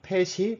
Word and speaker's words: PET: 줄여서 PET, PET이라고 읽습니다. 그래서 컴포넌트들로는 패턴 버벌라이저 페어라는 것에 대해서 설명을 해드리고요. 그 다음에 PVP 트레이닝 앤 인프런스, 이 PVP가 패턴 버벌라이저 페어입니다. 그리고 PET, 펫이 멀티태스크를 만나면 어떻게 되는지에 대해서 설명해드리고자 합니다.